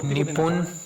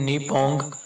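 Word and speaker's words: Nippon: अगर आप इसे इंग्लिश में लिखा देखोगे तो निपुण, लेकिन असल में प्रोनाउंसिएशन निपोंग होगी।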